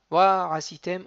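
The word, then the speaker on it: ועשיתם: Wa asitem otam. Donc j'ai ralenti sur le wa asitem. Wa asitem, il y a une gaïa entre le patah de wa et de asitem du hataf patah du aïn.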